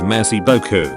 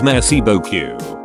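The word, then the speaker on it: merci beaucoup: is messy Boku however you have to be careful pronouncing it as I found out that I was pronouncing it more as messy Boku making it sound like the French translation of saying thank you nice butt she got a good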